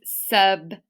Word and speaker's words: sub: Make sure you clip that b sound at the end. Don't say buh. Say b. Do it really short and clipped.